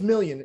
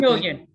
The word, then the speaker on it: Moline: And yeah, it's million, you know, we'll just go with million. English pronunciation. We'll yeah, the French is tough sometimes.